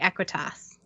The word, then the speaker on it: Equitas: Yes, and I didn't know how to say Equitas. It's Equitas. Okay.